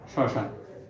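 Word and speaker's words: শ্মশান: এটা লিখছিলাম এর এটা কিন্তু এর বানান মটা আছে কিন্তু উচ্চারণে ম উচ্চারিত হয় নাই তাহলে ম ছাড়া তোমাকে এখানে উচ্চারণটা লিখে দিতে হবে শশান আচ্ছা আচ্ছা বলতো এখানে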